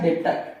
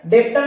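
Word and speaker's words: debtor: डेटर है ना सर डेप्ट डेटर नहीं बेटा इट्स डेटर य पर बी क्या है बी है यहां पर साइलेंट क्या बात क्लियर हो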